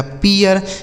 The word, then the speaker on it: pear: ठीक है, PEAR, तो पी से हो गया प, इस ई ए का उच्चारण ई हो गया, आर से र लिखा गया पियर।